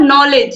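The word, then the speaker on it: knowledge: यह नाइट हो गया इसके बाद नॉलेज यह तो आप सभी को पता नॉलेज मतलब ज्ञान और इसमें के क्या होता है साइलेंट होता है तो इस तरीके से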